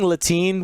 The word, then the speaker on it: Letian Ashura: Sure, Latin. Sure. I was saying Latin when I was commentating. Latin. Latin. Silent. The E is silent. It's there for looks.